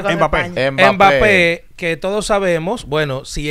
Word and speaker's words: Mbappé: En el caso de Mbappé, ¿cómo que se pronuncia? Mbappé.